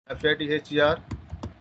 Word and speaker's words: father: Here this R is silent.